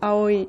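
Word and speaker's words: 葵: Or at least Blue is pronounced Aoi too.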